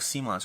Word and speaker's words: CMON: ball is one of kon's earliest titles one of seon's earliest titles I'm trying to go with the seon pronunciation but I still slip